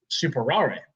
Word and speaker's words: Superare: one day was like what about super rare or uh which is technically how it's pronounced we say super rare that is the answer to the debate between friends this is super rare